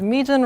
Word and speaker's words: Mejin: Oh, and the pronunciation of my name for anyone who might have been wondering is Mejin rhymes with region.